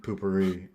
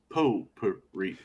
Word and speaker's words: potpourri: That it is odd that poop is in poopery, like the word. yeah. At least Well, phonetically. it's potpourri, but Yeah, I know, but you can the say poopery poop.